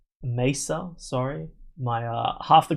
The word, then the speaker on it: Mesa: fluff video is like, "This guy can't pronounce me. He keeps saying Messa. I'm in Australia. We say things that way. It's just many people here would say Mesa."